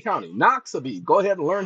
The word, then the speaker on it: Noxubee: Noxubee County, Noxubee. Go ahead and learn how to spell it.